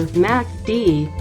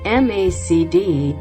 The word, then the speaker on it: MACD: overbought and oversold levels note that macd can be pronounced as either macd or macd here is an example